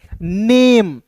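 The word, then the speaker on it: name: तो जब अंतिम में इ आएगा तो इसका उच्चारण ए के रूप में करेंगे तो यहां देखिए एन ए एम ई को पढ़ेंगे नेम और दोस्तों यहां पे वर्ब का तीसरा रूप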